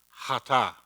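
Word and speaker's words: חטאת: And you pronounce, this is one of those words you have to hawk something up. You want to try it? It's hata.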